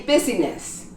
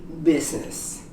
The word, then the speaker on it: business: There's only one word where the I is silent, and that's in business. You don't pronounce the I in business. You don't say busyness. You say business.